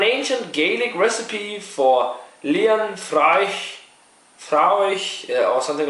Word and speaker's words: Fraoch: There's a pronunciation guide on here. Not Fraoch. It's pronounced like a F-R-U and then och. Fraoch.